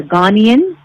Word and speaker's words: Ghanaian: And I was going to ask you, how is it pronounced? So if you're from Ghana, you are what is it? A Ghanaian?